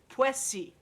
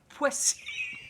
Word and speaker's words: Poissy: Tell me how to pronounce it. Poissy. Poissy.